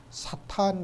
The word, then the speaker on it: 사탄: 사탄 이렇게 된 거죠 이게 사단이 아니라 사탄입니다 이것은 이름이에요 고유명사에 이름을